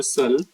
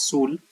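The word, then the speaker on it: Shull: has given as per cell. Many also pronounce it as sul. So whatever you want to pronounce cell or soul depends on you.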